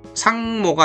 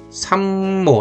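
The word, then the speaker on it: さんも: 그다음에 단나가 시도 옵니다 할 때 뭐뭐 도에 해당하는음 조사 모가 왔을 때는 단나가삼모 이렇게 이게 상모가 아니라 삼모 이렇게 미음으로 저절로 어 나는 거예요.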